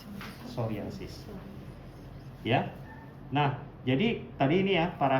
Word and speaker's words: psoriasis: Ya, bacanya psoriasis ya, jadi P-nya nggak usah dibaca, psoriasis.